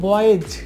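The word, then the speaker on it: boys: এটাকে আমরা প্লুরাল করছি সেক্ষেত্রে এই উচ্চারণটা হবে বয়েজ উচ্চারণটি হবে বয়েজ এটা হচ্ছে সঠিক উচ্চারণ বয়েজ বয়েজ না কিন্তু বয়েজ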